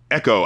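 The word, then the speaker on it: Ekoh: E-K-O-H. Echo. I think it would just be Echo, yeah.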